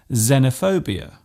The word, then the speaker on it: xenophobia: It often starts a word by being pronounced as Z, such as in xylophone and xenophobia.